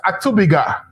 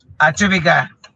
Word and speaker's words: Atubiga: I'm getting the name wrong, right? It's Atubiga. Yes. Atubiga.